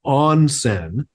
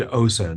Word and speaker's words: onsen: what I had said, I pronounced it incorrectly. It is onsen. Okay, I had said Osen.